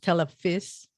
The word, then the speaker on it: Telefis: your collaborator it's called tele fish yes it's pronounced telephys it means television in gaelic i know um